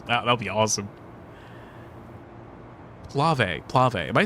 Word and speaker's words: Plave: So, it's PlayV.